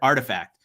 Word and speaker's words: RTFKT: i was like what how do you how do you even pronounce that because it's literally rtf kt and i'm like i don't know what that spells somebody had said oh it spells artifact i'm like oh okay